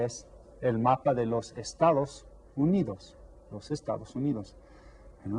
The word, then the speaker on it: estado: Estado. Try that. Estado. 3 syllables. Which one has the accent? The second one. Estado.